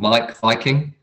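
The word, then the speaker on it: Meik Wiking: The V is spelt with a W, so it's like, I think it's like M-E-I-K for Mike, and then it's like Viking, and W like Viking, but with a W.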